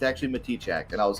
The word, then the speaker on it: Matichak: I've been calling you Andy Matichak for years, and I'm so sorry. Me too. You know, it is Matichak.